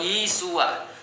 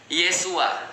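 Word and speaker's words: ישוע: Jadi kalau misalnya di dalam Katolik pernah dulu saya diajarkan, Yesus itu bahasa Ibraninya adalah Yesua. Nah, jadi Yesua itu ya bahasa Ibrani ya. Kalau dalam bahasa Aramaik, bahasa Aram itu bacanya Yesu. Nah, jadi sama ya, ada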